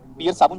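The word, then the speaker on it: Pierce: है, तो वो है पियर्स। पियर्स साबुन जैसा ही प्रोनाउंसिएशन उसका, पियर्स साबुन की तरह।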